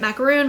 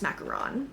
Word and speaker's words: macaron: from Le mini macaron I never know how to say it macaroon macaron I think it's macaron this is their new